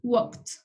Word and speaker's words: walked: Y el pasado es walked. Aquí también se pronuncia como T al final, debido a que tenemos a la K.